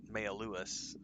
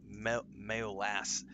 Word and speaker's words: Mayolas: Yeah, I'm never gonna pronounce your name right because my brain, when I see it, my brain wants to pronounce it Mayaluas, but it's Mayolas.